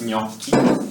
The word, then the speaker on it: gnocchi: So, another kind of weird sound we have is nya. Nya. And for example, we have words like the word gnocchi, which is the pasta, like the homemade pasta.